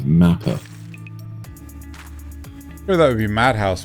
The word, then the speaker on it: Mappa: So there might have been a mispronunciation where you said Nappa instead of Mappa.